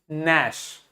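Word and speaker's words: gnash: एन लिखा है तो जी को प्रोनाउंस नहीं करेंगे क्या बोलेंगे नश नश मतलब होता है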